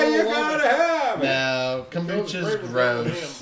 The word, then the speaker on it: kombucha: now but nope anyway kucho is good we apologize delicious with your avocado toast I love avoc not even pronouncing it correctly right it's kombucha Kucha like Sriracha sure Sriracha which you